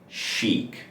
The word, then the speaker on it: chic: It's not a ch sound, it's not a sound, it's chic. So you have the sh sound and the e vowel, you go chic.